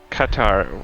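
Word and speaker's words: Qatar: but even though the catar whatever I can't pronounce them properly in English guitar guitar okay guitar like guitar but hard K all right I'll take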